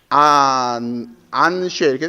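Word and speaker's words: אַנְשֵׁי: 이건 복수형 ABS는 절대형이라니까 아나심 할 때는 보통 사람들, 남자들 할 때, 근데 이것이 연기형으로 바뀌면 안쉐 이렇게 되죠? 안쉐. 아나심이 연기형으로 가면 발음을 하자면 안쉐이로 발음을 해야 되는 거예요.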